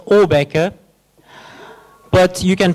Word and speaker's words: Åbäke: And it's sometimes pronounced Åbäke, Åbäke, Åbäke, Åbäke. I'm not Swedish, but it's a Swedish word. It's pronounced Åbäke.